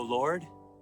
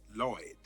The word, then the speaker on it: Lloyd: Hail to thee, O Lord. Actually, it's pronounced Lloyd.